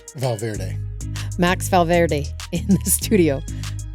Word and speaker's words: Valverde: Valverde.